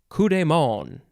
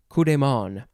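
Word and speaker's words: coup de main: next french phrase is kudemon kudemon ku dey or da and then m-a-i-n in english it looks like maine but it is pronounced more like you don't really say the end too much noun from 1758 it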